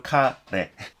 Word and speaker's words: 카레: 한국 발음으로 카레.